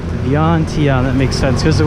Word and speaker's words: Vientiane: I think it's 3 syllables, so I gotta Vientiane.